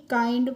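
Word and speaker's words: kind: अब है देखिए के आई एन डी तो के आई एन डी को हम किंड नहीं काइंड पढ़ेंगे और काइंड मींस क्या होता है?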